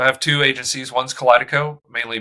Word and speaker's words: Kaleidico: uh group and the Sorry, how do I pronounce that exactly? Yeah, it's uh so I have two agencies. One's Collidico, mainly B TOC, and then Bill Rice Strategy Group is focused on B2B.